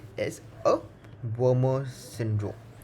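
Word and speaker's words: Wermer: is also known as warmer syndrome please pay a specific emphasis on the letter m as there is an another syndrome which is called a Werner syndrome spelled with w-e-r-n-e-r syndrome which is a syndrome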